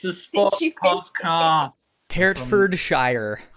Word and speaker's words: Hertfordshire: it's a sport car hertfordshire yeah hurt for the shire there you go that's how it's spelled